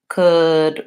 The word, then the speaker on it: could: and then in addition another couple of very common words could would should all of these have that silent L so they are just the vowel and going right into the final D could would should this